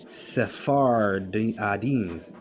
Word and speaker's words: Sephardim: Sephardim, so it's three words, three syllables. Sephardim, like Adanim, which is Hebrew in origin.